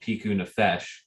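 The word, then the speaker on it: פיקוח נפש: i think forgive me if i'm wrong it's piku nafesh um he was talking to his wife after he had said i'm i'm sorry i lied we can what about piku nafesh and that is how it's pronounced um and he says right after it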